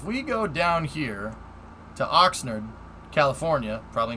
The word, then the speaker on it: Oxnard: Oxnard, you said it right, Captain?